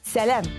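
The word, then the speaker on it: сәлам: Привет будет сялям. Вот здесь пишется А, но произносить надо Нет времени объяснять.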